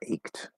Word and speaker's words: ached: don't know, what's another ached? Ached, like my back ached, right? Different spelling, same sound, ached. The E is going to be silent like it normally is.